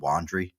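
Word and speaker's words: Wondery: You got have you ever heard of Wandre podcast a group called Wandry?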